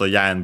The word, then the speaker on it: 円: the uh currency yen. That's because uh at the time when uh the term came into uh came to English and other languages uh it was actually pronounced yan because uh words with